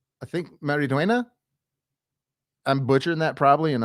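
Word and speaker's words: Xolo Maridueña: But I think this guy's name is pronounced Zolo Mariduena. Mariduena. I think Mariduena.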